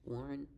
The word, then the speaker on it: Warren: Warren.